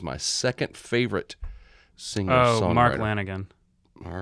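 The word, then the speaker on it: Mark Lanegan: saying he was my second favorite singer oh mark lanigan all right did i pronounce it right yeah you pronounced it perfectly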